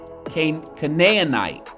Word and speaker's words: Canaanite: The text displays linguistic features that can be assigned to Aramaic, Canaanite, Canaanite is how it should be pronounced, Ammonite, and other subgroups in the Northwest Semitic family.